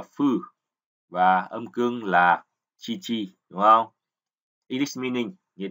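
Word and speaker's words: 父: Ông Yomi của chữ phụ đọc là phư và âm cương là chi chi đúng không?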